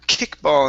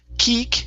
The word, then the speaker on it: kickball: game okay very nice let's try the short eye in the word kickball instead of Kik kickball it's kick kickball game kickball game okay good